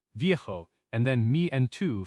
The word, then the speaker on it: viejo: For old, for a person, we typically use viejo for masculine, V-I-E-J-O, and vieja for feminine, V-I-E-J-A.